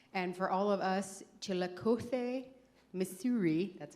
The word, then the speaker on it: Chillicothe: And for all of us Chillicothe, Missouri, that's how they say it, gringos, basically the extent of our Spanish was being able to order at El Toro.